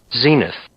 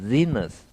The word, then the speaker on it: zenith: 윙윙거리는 것처럼 이렇게 해줘야 된다.